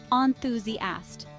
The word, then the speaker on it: enthusiast: bookworm who devours novels the pronunciation is Enthusiast with stress on the second syllable use Enthusiast to describe